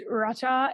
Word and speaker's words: rasa: words for Delight is spelled um r-a-s-a or Raja which I can't roll my R's but you know um it's Racha and um it's spelled r-a-s-a